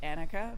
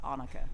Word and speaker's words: Anneke: I tell people sometimes when I pick up the phone here in the U.S., I say Anneke because Yeah. people understand it a little better. But Yeah. in Dutch, you pronounce it Anneke.